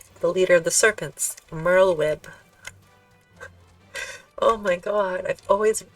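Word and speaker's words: Merlwyb: how to say the leader of the serpents Merl web oh my god I've always read that I'm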